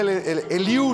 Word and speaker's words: Eliú: Porque la Biblia, Eliú le dijo, Eliú con acento en la U, como dice nuestro Eliú acá.